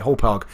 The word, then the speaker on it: Hauppauge: I am using, I don't know how to pronounce it, a Hauppauge, Hauppauge. That's it, Hauppauge.